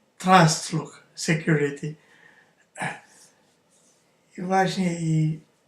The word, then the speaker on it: Trustlook: aplikacjach jaki jakiś antywirus nazwę pisze się Trust look tak Trust look Security a wymawia się transluch Security właśnie i Z